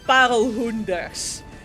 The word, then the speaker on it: parelhoenders: That is pronounced as parelhoenders.